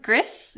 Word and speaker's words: Grice: Because I've only ever heard Grice. Has anyone ever done Gris? Yeah, Gris or Gris or whatever it is. All right, so how do we settle this? Gris would be the French pronunciation, right?